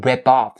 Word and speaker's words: rip off: And another point of this phrase's pronunciation is the linking sound of the P sound at the end of the word rip to off. If off is coming after, right after the verb rip. So you say rip off somebody, or rip somebody off is another usage, but